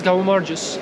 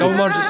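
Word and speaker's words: გაუმარჯოს: In Georgian, cheers is Gaumargus. Go Marcus. Gaumargus.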